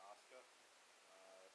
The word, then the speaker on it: Asuka: I'm American, so it's tough for me to not pronounce the U, but they like to call her Asuka.